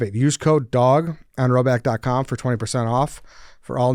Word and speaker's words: Rhoback: to Rowback joggers.